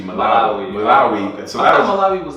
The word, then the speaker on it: Malawi: Well, I used to say Maui and it's actually Malawi.